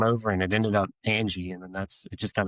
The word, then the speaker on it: Ange: So well, your last name, Ange, So it's really, we pronounce it Angie.